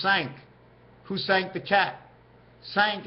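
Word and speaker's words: cinq: but this is the number five is sank who sank the cat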